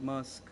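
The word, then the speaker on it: mózg: Brain Mos but pronounces like musk. Like musk. Oh, really? It's pronounced like musk.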